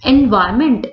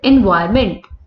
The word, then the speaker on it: environment: N is a silent letter in the word environment.